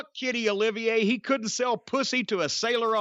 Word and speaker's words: Olivier: spelling of Sir Laurence Olivier's name a lot of people spelled phonetically so that it ends with an A Olivier like Olivia de Havilland